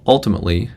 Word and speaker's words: ultimately: The first syllable in the word ultimately historically has a strut vowel, but the way she says it, it's as if it's with the goat vowel.